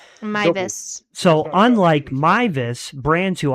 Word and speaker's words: Meiwes: I know it does look like it does come out that because he's German, his last name W's are V's. Yeah, W's are pronounced as V's. That's right. Mvis.